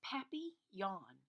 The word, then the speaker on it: papillon: You say it like this: papillon.